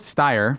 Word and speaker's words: Steyer: Philip Steyer rhymes with fire from Springfield, Missouri.